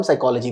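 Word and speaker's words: psychology: हम उसको बोलते हैं स्टडी ऑफ ह्यूमन माइंड, उसको हम साइकोलॉजी बोलते हैं। सोचते होगे आप लोग कि सर P साइलेंट है तो दिया क्यों?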